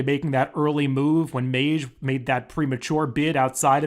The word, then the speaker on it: Mage: did confirm with one of the owners it's pronounced Mage I've heard Madge I've heard Maggie I've heard McGee so it's Mage so uh we'll go with